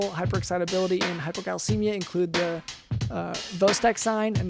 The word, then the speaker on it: Chvostek: The signs of neural hyperexcitability in hypocalcemia include the Vostek sign, and that's spelled like CHVOSTEK sign. That's Vostek sign, but it's Vostek sign.